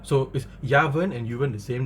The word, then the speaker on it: Yuvern: Yu is pronounced Ya, okay, like the word in the word umbrella. So is Yavern and Yuvern the same name?